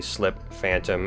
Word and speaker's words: Sliphantom: it by the way slip phantom as two separate words I didn't want to